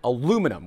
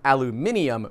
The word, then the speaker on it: aluminium: is way stronger than aluminum which is what this block is made of or aluminium for all of you that are from across the pond or prefer to use the actual pronunciation it's a lovely material